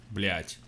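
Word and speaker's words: блять: how do you pronounce blyat and what does it mean we pronounce it a little bit you know harder like blech and it means a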